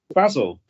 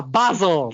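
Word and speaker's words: Bazil: American ACC I said basil didn't I no it's basil not basil it's not basil it's basil like Stephen has to say so I'm glad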